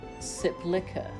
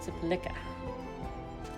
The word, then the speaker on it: Sepulchre: Heard it pronounced Sepulchre on Stargate. Ah, okay. Sepulchre. Interesting. Yeah, I was wondering if I was pronouncing it right. Let's have a little Google of the word. Sepulchre. Sepulchre. Sepulchre. Okay. Sepulchre. Just seeing if there were different pronunciations. Sepulchre is a borrowing from French. Ah, okay. So yeah, it probably does have a bunch of different pronunciations.